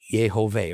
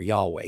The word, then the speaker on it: Yahweh: But actually, the original Hebrew says Yud-He-Vav-He, Yehoveh or Yahweh, depending on how you want to pronounce it.